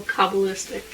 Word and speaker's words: Kabbalistic: Based on the old mystical Kabbalistic wisdom, it's like Cabal.